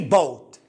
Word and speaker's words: bought: أنا نطقتها bought bought. لا، المعلومة الإضافية أن الجي اتش إذا ما جاء في وسط الكلمة لا ينطق. عيد عيد يا أستاذ. الجي اتش جي اتش إذا وجدت الجي اتش في أي كلمة في وسط الكلمة لا تنطقه، هو ينطق إذا جاء